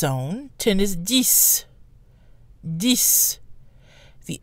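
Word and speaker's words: dix: says on its own the X is silent when followed by a consonant and the excess pronounced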